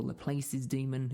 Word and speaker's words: Laplace: I really wanted to talk to you guys about a thing called Laplace's Demon, or Laplace's Demon, which is, I think, the actual pronunciation.